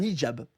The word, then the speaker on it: hijab: Un hijab. Voilà. Un niqab, hijab. Toi qui es arabe, Reski, comment on dit? C'est deux choses différentes. C'est hijab, donc, faut H-I-J-A-B.